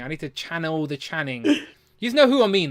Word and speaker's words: Channing: do I say say Chadwick Chadwick Tatum yeah it's Channon Channon okay he it's not Chadwick it's Channing okay Channing Channing Channing Channing I need to channel the Channing you know who I